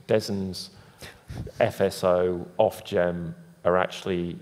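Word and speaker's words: DESNZ: and responsibility ities between des's what we pronounce it des's fso off gem are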